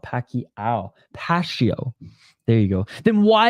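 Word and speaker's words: Pacio: I give my prediction um his name is pronounced Pas not Pak pasio there you go then why isn't there a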